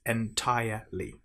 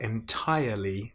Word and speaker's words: entirely: Now make sure you don't pronounce the R in entire. It's not entirely. It's entirely. And then different I different. So let's try it. Cushions and pillows are entirely different.